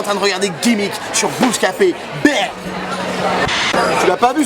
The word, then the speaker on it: Booska-P: Yeah, Bouscapé, d'accord. Spell it. B-O-O-S-K-A, and then they say, instead of P, they say pay.